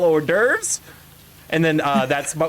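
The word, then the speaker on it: hors d'oeuvres: So, whenever I would read it referenced in a book, I would read it as horse horse.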